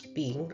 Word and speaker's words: PNG: example of picture is PNG or pronounced as ping or portable Network Graphics